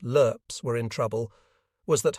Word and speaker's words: LRRPs: It seemed to me the reason those LRRPs, pronounced LERPs, were in trouble was that Hunt hadn't followed proper deployment procedure.